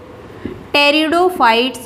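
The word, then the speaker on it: Pteridophytes: plants को किया है कि टेरिडोफाइट्स में पीस साइलेंट रहता है और एक हमने इसको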